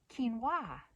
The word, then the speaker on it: quinoa: Quinoa, quinoa, because it's just kind of stupid spelling anyway. But apparently we're supposed to say quinoa.